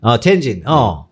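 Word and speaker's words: 天津: 천진이라고 천진을 중국어 발음으로 뭐라 그러지? 텐진? 텐진.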